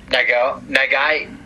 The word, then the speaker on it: Nagai: Nagai.